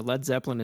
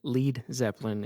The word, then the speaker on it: Led Zeppelin: You know, Led Zeppelin is spelled the way it is because they thought the audience would pronounce it Lead Zeppelin in the US, right?